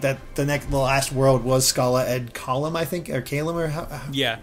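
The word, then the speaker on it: Scala ad Caelum: finding out like that the last world was Scala Ad Kalam, I think, or Kalam, or how it's pronounced. Yes, Scala Ad Kylum.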